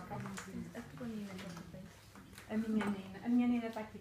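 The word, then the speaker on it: Neenah: O que a Marlene está a passar agora é o Nina, e Nina escreve N-E-E-N-A-H.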